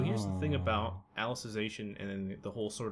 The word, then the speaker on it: Alicization: can't pronounce that subtitle. Alicization.